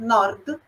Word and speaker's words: nord: Nord, sud. Interrompe ali no D mudo, a gente não inventa a vogal ali. Mas, por exemplo, nord Itália, sud Itália, fica quase, né, uma pronúncia uníssona.